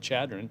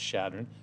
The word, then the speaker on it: Chadron: beat right yeah shadron shadron is another one I you hear a lot of people pronounce it Chadron it's not it's shadron Carney you hear you'll